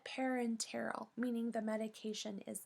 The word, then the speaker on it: parenteral: let's review parenteral dosages don't forget the extra syllable in this word it is not parental but parenteral meaning the medication is